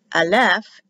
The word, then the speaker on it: Aleph: Aleph is the first letter. It is always silent. It is not an A in Hebrew, and it's always